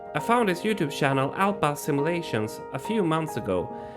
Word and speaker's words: Alpa: lot of people confused they always call me Alpha and the funny thing is in America there is something called Alpha simulation there is no age between P Alpha simulations guys I